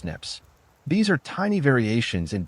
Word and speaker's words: SNP: Instead of looking at STRs, genetic genealogy examines single nucleotide polymorphisms, SNPs, pronounced SNIPS.